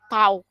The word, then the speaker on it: tau: Yang kayak tanda T itu yang kayak tanda T itu ini namanya, kalau bacanya namanya tau.